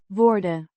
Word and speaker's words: worden: Worden, Means are or being passive voice, pronounced worden. similar to English worden, but with a shorter o.